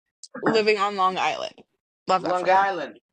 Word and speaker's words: Long Island: Love Long Island. Didn't say it right. You got to say Long Island. Got to be one word.